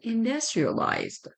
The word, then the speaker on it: industrialized: which is richer or industrialized. Pay attention to the pronunciation of this word. We use U, but we don't say industry. It's industry, industrialized.